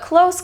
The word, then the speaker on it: close: want a coffee but close can also be pronounced close as in close the door can you close that